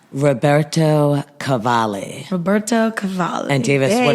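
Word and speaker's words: Roberto Cavalli: hope they'll never pronounce Roberto Cavalar. Cavalier wrong. Roberto Cavali.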